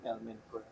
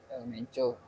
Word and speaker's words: El Mencho: Itu karena kematian ketua bosnya, gimana sih pronunciation? El Mencho, El Menco. El Mencho. El Mencho lah bilangnya.